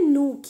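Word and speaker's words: Nuuk: नूक. ये न्यूक लिखा है पर इसका प्रोनाउंसिएशन कैसे होगा? नूक.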